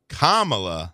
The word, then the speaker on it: Kamala: When we come back, next segment, we're going to talk about Kamala Yes. Harris. Like the comma.